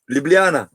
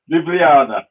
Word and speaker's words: Ljubljana: home town or city I think it city pronounce it please Josh Ljubljana Ljubljana Ljubljana okay yeah and then once it will be